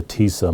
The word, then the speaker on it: TISA: We call it TISA, rhymes with Lisa.